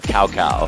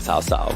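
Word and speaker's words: 曹操: And then the Lubu by name in AOV is actually called Coco or Cow Cow. Cow Cow, yeah. I think it's actually pronounced with an S like Sao Sao, but okay.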